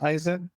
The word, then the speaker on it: Eisen: better it's the whole notion of kaen in Japanese kind of rhymes with my last name aen so I could wake